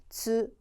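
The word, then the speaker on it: つ: 으 발음이고 즈 고요요 발음도 여러분 조심하셔야 되는데 절대로 추라고 하시면 안 돼요 너무 어려우실 때는 위로 가세요 미나상 츠 츠 츠다 그죠 기억하시고 자 타치츠테토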